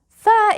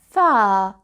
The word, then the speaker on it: ف: Fa is the equivalent of the letter F. Fa.